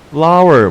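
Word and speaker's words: flour: flower 무슨 뜻이게요? 그렇죠. 밀가루예요. 근데 밀가루가 flower고 발음이 꽃이랑 똑같아요.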